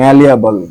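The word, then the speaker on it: malleable: তারপরে ম্যালিয়াবল, ম্যালিয়াবল, ওকে। দেখেন এখানে কিন্তু এম এ আছে, এটা উচ্চারণ হচ্ছে মা, এটা এখানে আছে এম এ, এটা উচ্চারণ হচ্ছে মে, ঠিক আছে।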